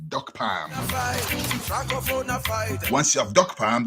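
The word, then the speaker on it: Dokpam: look for duck farm it's spelled d-o-k-p-a-m duck Pam once you have duck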